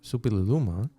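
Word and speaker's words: Suppiluliuma: Supililuma.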